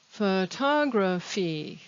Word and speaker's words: photography: this is a verb the ending ate is pronounced eight also in the question photography photography notice that the stress is on the top